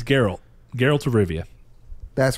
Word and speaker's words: Geralt: It's Geralt.